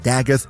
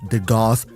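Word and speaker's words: Dagath: Um, and yes, she's pronounced Dag, not de Goth. I know that because I was sponsored to make a video on her when she released and I pronounced her de Goth and then they asked me to re-record it and pronounce her Dag throughout the entire video.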